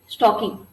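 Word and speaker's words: stalking: को क्या बोलते हैं, स्टॉकिंग, ठीक है। यहाँ पे एल जो आपका होता है वो साइलेंट है, क्या बोलते हैं इसको, स्टॉकिंग। क्वेश्चन नंबर 35 क्या कह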